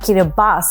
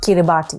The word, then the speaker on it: Kiribati: native tongue of Gilbertese, the TI is pronounced S, which is why we say Kiribati and not Kiribati.